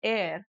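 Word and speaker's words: heir: पहला है एयर। इन दोनों का ही प्रोनाउंसिएशन है एयर और एयर का AIR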